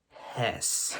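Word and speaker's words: Hoese: my mouth when a little something like this de hosy de house de hoes um de Jose ho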